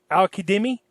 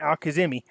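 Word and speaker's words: al-Kadhimi: I found out, somebody pointed this out to me, the Z is pronounced with the D, so it's Qaeda Me. I believe that's how you, Al-Qaeda Me is how you pronounce that.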